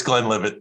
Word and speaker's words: Glenlivet: My go-to is Glenlivet, and I could be pronouncing it wrong, but it is what it is. It's Glenlivet.